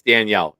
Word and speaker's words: Danielle: The Texans and fivetime Pro Bowl Denil Hunter. It's Danielle. You spell it that way. It's Danielle.